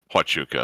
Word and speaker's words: Huachuca: Huachuca, that's how it's pronounced.